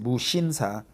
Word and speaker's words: Musinsa: such as CJ Olivion Musinsa in Korea we pronounce it bushinsa uh that's the kind of a conglish right there they got to be h after s but that's the how